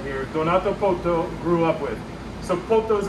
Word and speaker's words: Poto: partner right here donato poto grew up with so potos his last name and that rhymes with one it rhymes with toto and who is toto